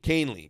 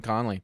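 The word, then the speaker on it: Kahnle: really on it yeah Kane like c a i n and then Lee all I was always saying Conley kanley um he was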